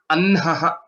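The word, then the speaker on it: अह्नः: There's a subtle difference with respect to the pronunciation of Hakara and then the Visarga. Anha, you are giving more air, more energy. Then Ha is a lighter one. Anhaha. Annaha. Okay. That's how the pronunciation of this word will be.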